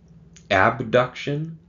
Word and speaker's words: abduction: Now, sometimes I will say abduction to make it clear that the word abduction is spelled with a B, because it can sound quite similar to adduction, that it's spelled with a D.